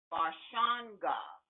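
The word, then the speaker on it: Barashango: name is i-s-h-a-k-a-m-u-s-a and his last name is pronounced barshawn god and this is dealing with the fourth dynasty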